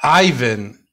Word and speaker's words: Ivan: So what is your You left out the middle syllable. Ivan.